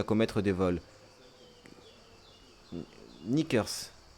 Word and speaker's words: knickers: Knickers. On n'est pas obligé de prononcer le cas.